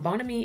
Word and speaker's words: Bonhomie: Like my our coffee bar is called Bonamey Coffee Bar. It's spelled B O N H O M I E. Um Bonomy is a word in the English language that's borrowed from French.